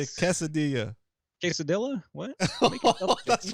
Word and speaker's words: quesadilla: got the Double L the U is silent and a double L is pronounced like a like a y sound guess so let's look